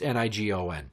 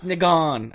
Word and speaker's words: Nigam: yeah it's ni gon not like you think it's spelled that same they gone it's new gone alright that seems like